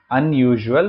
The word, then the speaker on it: unusual: This is dash unusual problem. You are aware of the U sound. Here, un is pronounced as un.